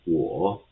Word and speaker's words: 我: So worth, and o is pronounced as all, as in the English word saw. So if we put them together, worth, all, so it will be pronounced as 我.